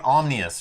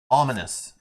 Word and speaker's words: ominous: in the next scenario ominous ominous I keep saying omnus right ominous yes thank you Bob